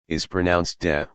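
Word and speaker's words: 德: As we were saying, te is pronounced de.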